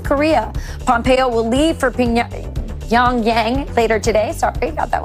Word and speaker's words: Pyongyang: Pyongyang.